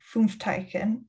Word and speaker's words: Fünfteichen: So after you were in Auschwitz, you were then transferred to Fünfteichen. I believe I'm pronouncing that correctly.